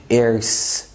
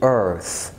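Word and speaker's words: earth: اوكي، في الكلمات الجايه دي ما تقول دايما دم ار ار، ما تقولش ايرس. اوكي، قول ايرث، ما تقولش ايرلي، قول early.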